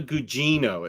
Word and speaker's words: Gugino: Carla Gugino. It's spelled this way.